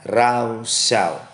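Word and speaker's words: rasha: Penulisannya cuma R-A-S-H-A. Bacanya rausau.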